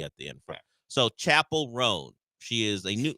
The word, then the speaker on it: Chappell: I don't know yeah the only difference is there's no e at the end it is spelled exactly the same as Chappelle except there's no e at the end so Chapel rone she is a